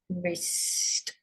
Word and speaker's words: wrist: Silent W and a silent S, wrist.